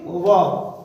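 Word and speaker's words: verb: ढेर सारे लोग मुंह फाड़ के कहता वर्ब, this is नॉट वर्ब, this is वर्ब, है ना। Here are is silent. whenever r comes after vowel, whenever r comes after vowel you have to read r into a sound, है ना।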